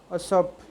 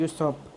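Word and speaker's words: usurp: Conquer, confiscate, सिक्विस्टर, सिक्विस्ट्रेट, असप या यूसप, इसकी pronunciation है यूसप।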